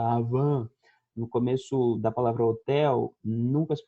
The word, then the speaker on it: hotel: No começo da palavra homem, no começo daquela loja chamada Avan, no começo da palavra hotel, nunca se pronuncia. Em espanhol também. Hotel, hola, hombre, nunca se pronuncia o H, tá bom?